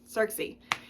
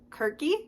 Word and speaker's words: Circe: so this book actually I think we're all saying her name wrong by the way I think in Greek there is no s sound with a c I think it's with a c so I think her name is kiry kiry something like that